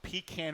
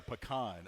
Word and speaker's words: pecan: I say pecan. Okay. Now, I think the original, how you're supposed to say it's pecan.